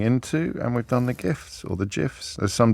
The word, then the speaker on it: GIF: Doodle Whale says the creator of the GIF said that it is pronounced with a G as in giraffe, ergo GIF. And Wimble Womble said GIF stands for graphics interchange format, so the G of GIF is hard, as in GIF.